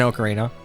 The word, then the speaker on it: Ocarina: Why do you say Ocarina like that? What? Aarina. Aarina of time. Yeah, Ocarina. I'm pretty sure it's an Ocarina.